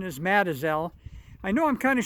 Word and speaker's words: Mazatzal: map it's spelled mazatzal but at the local pronunciation is Madison I know I'm kind of shooting off to